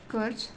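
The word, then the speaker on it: Kerch: आएगी करेज स्ट्रेट आएगी, कर्च या करेज। ठीक है, कर्च ही नॉर्मली इसको प्रोनाउंस करते हैं।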